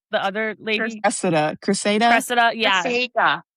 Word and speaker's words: Cressida: Cressida. Yeah. Cressida.